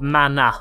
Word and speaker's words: mana: Of mana, like magic. Yeah, okay. You mana. Mana. Mana. There's no R in it.